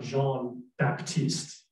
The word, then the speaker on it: Jean-Baptiste: his name is not jean-baptiste it's spelled j-e-a-n and baptiste but it's pronounced jean and you don't pronounce uh the p in baptiste it's joel and i